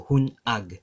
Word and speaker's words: hunag: That hyphen, a kudlit, and that kudlit tells us to pause it internally with a pronunciation. So hunag, right?